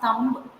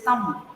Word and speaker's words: thumb: It is not thumb. It is thumb. The B should be silent.